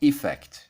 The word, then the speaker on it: effect: Yeah, Americans basically use the same pronunciation for both words whereas British pronunciation might be a little bit more like /i-fect/ and /uh-fect/. Now, what do you need to